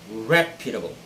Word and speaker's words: reputable: word is reputable it's reputable okay first syllable should be the stressed syllable and not any other